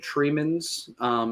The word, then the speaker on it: Tremens: So I did look up how to say this, and that is the original pronunciation that they gave me. And they also said Tremens is also another acceptable, but not necessarily the first.